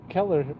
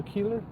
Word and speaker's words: Keeler: His name was Keeler, and I was calling him Oh, Keller. Keller. No, Keeler.